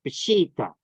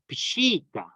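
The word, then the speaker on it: Peshitta: at all it's bushita like a sheet like sheets you put on a bed like that it's a double e sound it's a hawasa in Aramaic so it's pushita pashita and I had this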